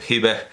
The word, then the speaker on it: Hiba: a pronunciarlo así, bueno, Hiba Papyrus on Music, pero vamos, el papiro Hiba, porque es aljiba en árabe, el papiro Hiba, y esa H es una T marbuta que no se pronuncia, el papiro Hiba en música.